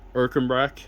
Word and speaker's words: Ercanbrack: It's like I said, it's Erkenbrock, and that's spelled ERCANBRACK.